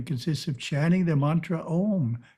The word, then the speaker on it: Om: Introspection portion consists of chanting the mantra Om 9 times with eyes closed. For Om Japa to be effective, the mantra must be pronounced correctly. First syllable is A, pronounced as the English word ah, but prolonged.